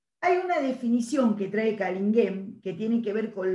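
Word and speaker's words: Canguilhem: Se escribe, parece que se pronuncia de otra manera, pero en francés se pronuncia Callinghem, ¿sí?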